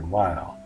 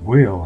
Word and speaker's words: Weil: Weil. I was pronouncing it Will in the last video, and it was brought to my attention that it should be Weil with the long I.